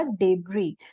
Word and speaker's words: debris: बी आर आई एस लेकिन जो एस होता है वो साइलेंट रहेगा हम साइलेंट एस को प्रोनाउंस नहीं करेंगे शब्द हमारा प्रणाम